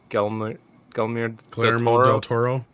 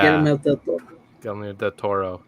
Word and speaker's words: Guillermo del Toro: Guillermo del Toro. Yeah. Guillermo del Toro.